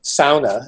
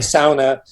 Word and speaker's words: sauna: The sauna, as they pronounce it correctly, the sauna is opening.